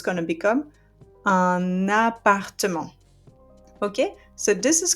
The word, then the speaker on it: un appartement: But the liaison will allow me to pronounce the last consonant of that article and link it to the noun. So it's going to become un appartement.